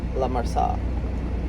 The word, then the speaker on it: La Marsa: The La is right, but the Marsala. There's no L there. Marsa. La Marsa.